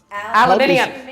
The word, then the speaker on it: aluminium: it aluminum aluminum yeah aluminum aluminium say the u aluminum and how do you Say Hyundai.